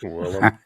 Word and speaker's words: Willem: if you someone hopefully told me try and William Dafoe. Yeah, I kill him. Yeah. Well, how do you, Beavis? How do you pronounce it? Is it Willem or Will I Am or? Willem.